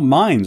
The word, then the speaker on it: Mainz: oh mines okay I was pronouncing Mains okay well I need